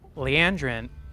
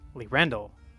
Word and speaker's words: Lerendel: Leandrin, nope, that's wrong too. Lerendel is the name.